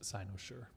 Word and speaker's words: Cynosure: Okay, it is pronounced Cynosure.